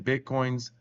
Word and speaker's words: Bitcoin: hardware said to contain Bitcoins. By the way, it's called Bitcoin. Anytime you see an S put on Bitcoins, they're saying it wrong.